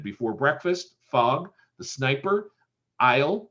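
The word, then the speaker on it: Ile: breakfast fog the sniper isle which is uh the new england pronunciation of oil um the long voyage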